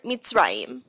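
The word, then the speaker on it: מִצְרַיִם: And if the shva closes a syllable, it acts as a stop sign, like in the word mitzrayim.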